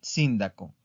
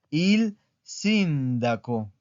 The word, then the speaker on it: sindaco: Il síndaco. Es una palabra esdrújula. ¿Por qué? Porque tiene la sílaba tónica en esta parte. Il sindaco.